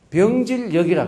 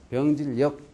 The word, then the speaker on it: 병질역: 우리는 이것을 가지고 병질역이라 그래요. 병질역. 발음을 역이라고 불러가지고 이 214부수 가운데 하나죠.